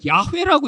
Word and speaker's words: 여호와: 그래서 여호와 뭐 이렇게 이제 자음만이 있는데 아도나이 모음을 여기다 이렇게 표시해 본 거예요. 그래서 그냥 읽을 때는 이 아도나이라고 읽었는데 이 자음이 여기 있으니까 이게 야호와라고 돼서 여호와라는 발음이 생기게 된 거죠.